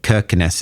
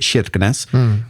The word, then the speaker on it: Kirkenes: They say it is like Kirkenes is how it's spelled, but they pronounce it Kirkenes.